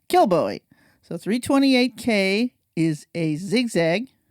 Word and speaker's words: Kilbowie: Kilbowie.